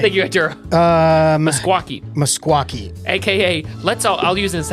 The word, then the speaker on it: Meskwaki: MUSKUAQUIE. There's no Q. MESKWAKI. Meskwaki. MES. It's spelled like meskwaki. Like it's not even. It's spelled how it sounds.